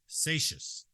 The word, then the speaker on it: Seixas: That's Vic Seixas, is how you say his last name.